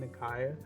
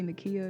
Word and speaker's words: Nakaia: We are here with Queen Nakaia. Yes. How are you today? I'm doing good. Good job for saying it right. 'Cause some people say Nakaia and it drives me insane.